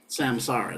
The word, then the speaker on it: samsara: How many of you have ever heard of Samsara, like Sam and Sarah? Samsara, it's spelled like this, Samsara, Samsara.